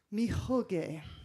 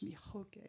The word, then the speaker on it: mihoge: So he spray painted onto this mihoge. That's how it's said in Osage, mihoge.